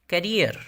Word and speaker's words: carrier: अगला लफ्ज़ है करियर, पेशा, माश, तर्ज ज़िंदगी। रॉन्ग स्पेलिंग है CARRIER, ये करियर नहीं है, ये कैरियर है।